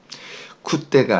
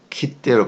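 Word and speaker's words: 来て: 자, 쿠르는요, 발음이 바뀌어요, 여러분. 지금 여기는 이제 제가 이제 쿠르라고 발음했는데, 여기 태형으로 되면요, 불규칙하니까, 쿠때가 아니라, 키때로 바뀐다는 거 주의해 주세요.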